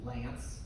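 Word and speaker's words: LAANC: There's this system called LANC, L-A-A-N-C. They pronounce it Lance because the federal government makes up ways to pronounce things weird.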